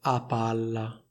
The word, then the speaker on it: a palla: Fai attenzione perché in questa espressione c'è soltanto una P, però viene pronunciata come se ce ne fossero due, cioè come se ci fosse una doppia P. Infatti si dice a palla, non si dice a palla.